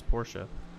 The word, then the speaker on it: Porsche: to him or Shaw I always say it wrong it's not a Porsche it's Porsche everyone but these three Porsches